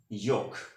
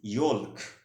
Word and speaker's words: yolk: friends my next word is yok in american english the correct pronunciation of this word is yok okay and in british english the correct pronunciation of this word is yok but you should not pronounce of this word is yolk which is not a correct pronunciation okay that's why you